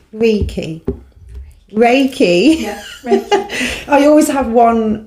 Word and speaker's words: Reiki: Yeah, Reiki. I always have one pronunciation that I do wrong.